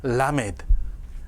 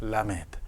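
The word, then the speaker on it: למד: 라메드가 아니고요. 라메드라고 하지 마십시오. 절대로 라메드. 그러니까 강세도 앞에 있습니다.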